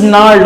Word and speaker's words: gnarled: means twisted this is gnarled okay how do you spell it nerd g is silent okay now means twisted